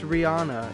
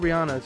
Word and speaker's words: Rihanna: true but supposedly it's rihanna it's not rihanna's rihanna so why did she let jay-z say her name wrong in the umbrella that's